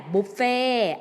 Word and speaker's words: บุฟเฟ่ต์: หรือ เครื่อง ดื่ม มา บริการ ร้าน อาหาร แบบ บุฟเฟ่ต์ อ่าน ว่า อาหาร แบบ บุฟเฟ่ อาหาร แบบ บุฟเฟ่